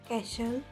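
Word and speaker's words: castle: When T comes before C एच और after S, इट is silent.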